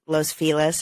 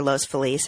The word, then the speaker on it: Los Feliz: to live in in Los Feliz or Los Feliz however you want to pronounce it Silver Lake Area